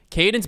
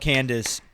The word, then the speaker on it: Cadence: Called Candace so many times this year. Absolutely. Even by people who had no business. When you just said it, I thought I'd been saying it wrong the whole time. No. So glad to see that I had it right.